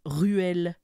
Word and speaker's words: Reuel: en France de JRR Tolkien pour John Ronald ruelle Tolkien tu comprends pourquoi personne ruelle ouais qu'un